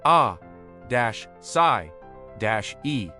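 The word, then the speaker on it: açaí: The asai berry, pronounced a d- sai- e.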